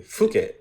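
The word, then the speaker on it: Phuket: like oh that's cool how about fuk I think that's how you say it properly fuk yeah and I'm looking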